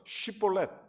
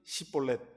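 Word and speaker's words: 쉽볼렛: 그래서 그리고 그러니까 위하고 이하고 발음이 잘 안 됐던 거예요. 그래서 쉬볼렛 이렇게 시켜보는 거예요. 근데 이 사람들이 시볼렛 이렇게 되는 거예요.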